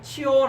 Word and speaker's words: 시온: 그가 치온 안에, 이 치온이라는 말은 이제 한글 성경에는 시온이라고 되어 있습니다. 시온. 근데 원문 발음은 치온입니다.